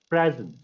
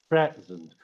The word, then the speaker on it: present: So, present. Once you stress the first part of the word, present. Once you stress the first syllable of the word, it is a noun.